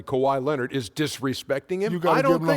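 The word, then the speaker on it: Kawhi Leonard: so so now saying a guy's name correctly kawhai lonard is disrespecting him you the whole name like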